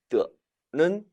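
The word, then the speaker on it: 地: 물론 이 단어는 땅이라는 의미를 지닐 때는 띠라고 발음합니다. 하지만 부사어를 만들어주는 역할을 하는 단어로서는 경성 처리된, 따라 읽어보시죠. 뜨.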